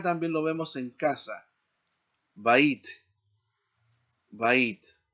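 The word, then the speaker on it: בַּיִת: Bait, bait.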